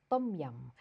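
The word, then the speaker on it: tom yum: a come home and make it next one tum yum soup or properly pronounced as tum yum so tum yum soup is is for those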